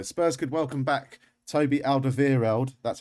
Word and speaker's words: Alderweireld: his former employer spurs could welcome back toby alderweireld that's how you pronounce it and serge aurier uh mr mustachio